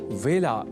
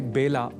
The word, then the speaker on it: वेला: अतः ए अक्षर से जुड़े वेला इस शब्द के उच्चारण में भी विशेष ध्यान रखा जाना चाहिए। अर्थात इसे बेला नहीं बोला जाना चाहिए।